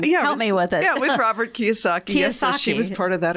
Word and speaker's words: Kiyosaki: of work with Robert kiss I'm saying his name Ron kiss ah yes I'm saying it wrong yeah me with Robert Kiyosaki's she was part of